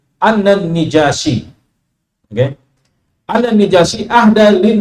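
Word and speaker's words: النجاشي: ya beliau mengatakan an najasi ya yang populer kita najasi tapi yang paling fasih bacanya dengan mengkasrahkan nun annan nijasiy oke annan nijasiyi ahda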